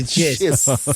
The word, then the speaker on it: Chiss: Isn't it pronounced chess? No, it's not pronounced chess. It's He's a chiss.